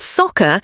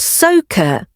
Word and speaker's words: soccer: For example, the word soccer has a short o sound. Soccer, not soaker.